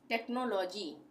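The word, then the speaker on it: technology: मेंटरी next word है टेक्नोलॉजी टेक्नोलॉजी टी ई सी एच एक साथ ले लेंगे यहां पे उच्चारण सीच से क का बन रहा है टेक उसके बाद नो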